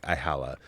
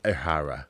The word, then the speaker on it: Ihara: So it's not like Ihala. It's Ihara.